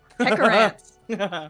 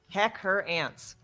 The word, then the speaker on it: Hecharant: Oh, Hecharant. Heckerant. Correct. That's a fun name. I like that. I gotta It spell is. this phonetically. Heck her ants.